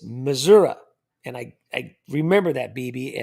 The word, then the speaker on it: Missouri: It's not Missouri. It's Missouri.